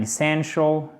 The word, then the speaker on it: essential: Comme ça, c'est une voyelle longue of our body and it plays an essential. C'est un I court qui n'est pas accentué et c'est la deuxième syllabe qui est accentuée.